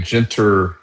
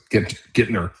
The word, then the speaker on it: Gentner: has the perfect name, Gintter Drummond does the just the opposite. It totally is a You're not a Gner Drummond guy. Yeah. No, I even misspelled his name. Mispronounced it. Gentner.